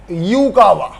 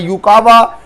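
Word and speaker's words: Yukawa: यू यूकावा, बेटा वो अलग बात है, यूकावा की स्पेलिंग वाई से स्टार्ट होती है। अब तुम्हारे बोर्ड में या नीट IIT में ये नहीं आएगा यूकावा की स्पेलिंग बताओ, ठीक। हाँ, तो स्पेलिंग वाई से चालू होती है, बट यू से बन गया यूकावा, राइट।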